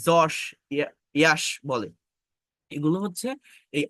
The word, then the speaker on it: যশ: নায়ক আছে এই বাংলায়, এটাকে কেউ বলে ইয়াশ, আবার কেউ বলে যশ। এটা কেন হয়? এটা হচ্ছে যদি আপনি কারেক্ট আইপিএ মেনটেন করেন, উচ্চারণটা মূলত ইউ, বাট আইপিএ মেনটেন করে কথা বললে, আইপি এর যে সিম্বল সেটা অনুযায়ী কথা বললে আমার মূলত জ উচ্চারণ করতে হয়।